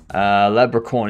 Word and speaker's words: Labricorn: Labricorn is how I pronounce it, but I'm good as long as I get noticed.